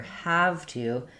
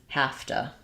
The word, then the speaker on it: have to: That in fluent speech, we actually don't say a v sound here. Have to. It changes more to have to. So we reduce the to a t and that v changes to an f.